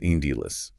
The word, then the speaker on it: endless: And then endless is endless, with the emphasis on that first syllable.